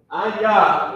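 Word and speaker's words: אני: So, Anya is how you pronounce the word. Anya, if you write I am for me. Anya means I am.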